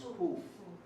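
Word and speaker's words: קוף: The next letter we have is Kuf. Kuf. Which is easy because think of queen, right? Kuf. Kuf. Some people say Kuf. Some people say Kuf. We say Kuf. But if you want to say Kuf, that's okay.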